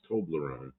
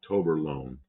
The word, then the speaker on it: Toblerone: There's an L in there. It's toblone, not Tberlone. I pronounced it wrong.